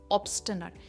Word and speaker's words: obstinate: ऑब्स्टिनेट, इसकी pronunciation ऑब्स्टिनेट नहीं है, एन में हम कहते हैं नट।